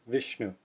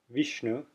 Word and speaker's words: Vishnu: or hear the word Vishnu Vishnu it sounds a little more like I than e you can also hear Vishnu Vishnu you hear the